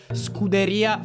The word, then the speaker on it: Scuderia: Your pronunciation is is strongly American. It's more Scuderia Ferrari.